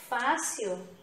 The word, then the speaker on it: fácil: Então, fácil, a penúltima sílaba é a tônica, é a pronunciada com mais intensidade, tá?